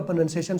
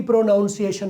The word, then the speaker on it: pronunciation: एक खास किस्म का प्रोनंसिएशन सुन रहे हो तो प्रोनंसिएशन अब लफ्ज प्रोनंसिएशन में बोल रहा हूं मैं गलती से भी प्रोनाउंस एशन नहीं बोलूंगा सही अगर मैं सोच